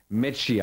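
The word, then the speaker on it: Mečíř: das sollte man sich aufschreiben, Ivan Lendl gegen Metschier. Also Lendl gegen Metschier. Pascal hat gesagt, so wird es ausgesprochen.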